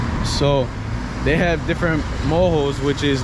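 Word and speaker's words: morro: have places they say they call them moho m-o-r-r-o in spanish it will sound like moro but it's moho because they don't remember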